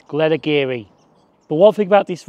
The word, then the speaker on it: Glenageary: This is Glenageary, but it's not pronounced like that. There is an A that you've got to pronounce, and it's Glenageary.